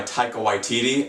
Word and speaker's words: Taika Waititi: This movie is directed by Taika Waititi, and before you sound off in the comments, yes, I checked, that is how you pronounce his name.